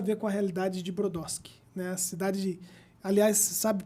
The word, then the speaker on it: Brodowski: a cidade se chama foi aportuguesado né para Brodowski mas a pronúncia é exatamente essa que você falou e em homenagem a